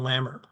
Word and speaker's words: LAMR: And before I talk about their audit activity, I want to start with their life agent misconduct reports, the acronym LAMR, rhymes with hammer, so easy to remember it.